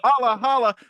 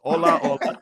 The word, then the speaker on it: Ola Ola: I had to double check the pronunciation with you before we started because I might be holla holla, but no, it's Ola Ola.